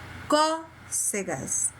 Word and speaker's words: cócegas: Cócegas. Qual foi a sílaba mais forte? Có. E o som foi o quê? Aberto ou fechado? Aberto.